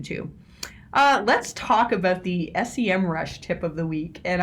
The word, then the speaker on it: Semrush: now i've said semrush they very politely reached out to me and said by the way it's sem rush so if you're wondering